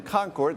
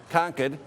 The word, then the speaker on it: Concord: now Nidia is in Concord that's the California and me pronunciation the proper pronunciation I've been told many times here is ConEd we'll set that aside